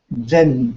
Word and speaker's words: Zen: My teacher said Zen translates it. It's from the Sanskrit jhana, which in Chinese they pronounce it as chana, and in Japan they pronounce it as Zen, but it means meditation.